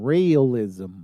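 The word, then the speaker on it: Raëlism: the key word here it is known as realism rism like you it has nothing to do with me no this is really a wacky religion it's spelled it's spell r a e l i s m realism realism continue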